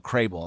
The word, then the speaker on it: Krehbiel: This article was this blurb of this article was George Crable, and it's Krehbiel, Crable. That's how I pronounce it.